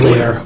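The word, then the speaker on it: LAER: achievable emission rate or that's right you say layer okay um where do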